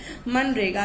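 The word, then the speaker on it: MGNREGA: ठीक है, हम यहाँ पे जी को साइलेंट रखते हैं। मनरेगा।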